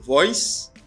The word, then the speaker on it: voice: Li pas prononcer comme voice, li pas gen z là-dedans, li prononcer comme voice. Son C a ba mon son s.